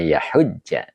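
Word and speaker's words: يَحُجَّ: Iya, ini bukan ini bacanya yahujja ya. Jadi tidak yah.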